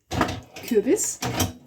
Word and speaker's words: Kürbis: And today I even added kürbis. That's always a word I don't know what's in English. One moment. well, I know that word, but there's a difference sometimes. Pumpkin, Kürbis, bis, Kürbis.